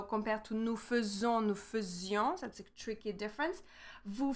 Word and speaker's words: faisions: So here, one thing about the pronunciation is that here we pronounce is as a E. A silent E, the symbol is this way. So nous faisons. We don't say nous faisions.